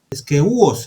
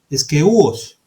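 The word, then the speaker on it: σκεῦος: Es decir que esposa viene del griego eskeuos, esta es la pronunciación, eskeuos, ¿de acuerdo?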